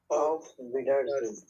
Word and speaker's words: Auf Wiedersehen: উচ্চারণ করে বলেন তো। Auf Wiedersehen.